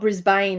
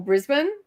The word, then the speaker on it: Brisbane: It's not Brisbane either.